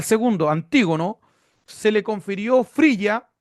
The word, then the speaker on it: Frigia: Frigia, se escribe tal cual.